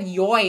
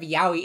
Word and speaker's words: Yaoi: cool enough I mean I said yoy instead of Yaoi exactly I think that's